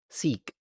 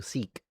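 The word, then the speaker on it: Sikh: Seek. Okay, thank you. Seek. Seek. Thank you for the for helping me with the pronunciation.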